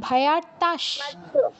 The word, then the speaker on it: ভয়ার্তাঃ: আর ভয়ার্তাস, বিসর্গর পর 3টি স আছে, মানে 3টি স্বরের যে কোনো একটা আছে, মানে তালব্য স আছে, সেই জন্য বিসর্গর জায়গায় তালব্য স হসন্ত উচ্চারণ হবে।